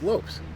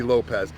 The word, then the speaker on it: Lopes: Lopes. It's Lopes. L O P E S is Lops. Lopez. No, it's a Z. That would be Lopez. Spell it correctly. I'll pronounce it correctly. Go tell him that. I'll tell him that. He spells it wrong. If he wants to be called Lopez, put a Z on the end.